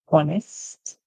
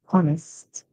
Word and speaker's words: honest: Our first word, honest, honest. Remember, the O in it is the H, sorry, is silent, honest.